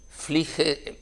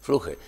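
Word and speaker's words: Flügge: 2 siglos, este médico se llamaba Flige en alemán, creo que se pronuncia, Fluge.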